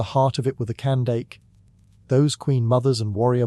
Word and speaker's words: Kandake: The Greeks pronounced it as Candace, and that's how it trickled into Western texts.